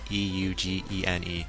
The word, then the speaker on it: Eugene: i was reading so it's going to be pronounced eugene regardless e-u-g-e-n-e eugene and again um general